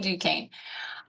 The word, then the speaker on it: Duquesne: That's kind of a joke, but it's definitely Duquesne.